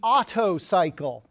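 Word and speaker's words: Otto cycle: This right here is called the auto cycle. I think that's one of the best dad jokes ever until you realize that it's spelled O TTO.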